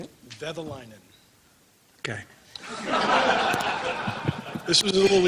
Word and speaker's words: Vehviläinen: Vehviläinen. How do you say it? Vehviläinen.